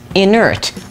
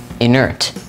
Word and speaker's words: inert: Today's word of the day is inert, spelled I-N-E-R-T, inert. Inert has one alternate pronunciation, inert.